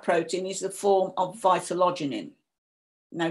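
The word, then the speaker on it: vitellogenin: And much of that protein is the form of vitalogenin. Now, different people pronounce it in different ways. That's how I pronounce it.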